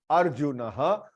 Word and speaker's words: अर्जुनः: For example, Arjunah, here R is half, आधा र है, तो अर्जुनः, अर्जुनः ऐसे प्रोनाउंस करना है, अर्जुनः.